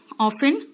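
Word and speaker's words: often: देखो ध्यान से, फ्रीक्वेंसी जैसे कि हमेशा, अक्सर, ऑफन, इसमें टी साइलेंट होता है बेटा।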